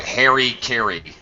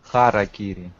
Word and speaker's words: harakiri: Okay, English speakers completely mispronounce it. Right? I'm going to tell you, they think it rhymes, so we call it Harry Carry, like Harry Carry. Yeah. All right. In Russian, we name it harakiri. That's a lot closer.